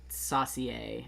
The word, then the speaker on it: saucier: Saucier.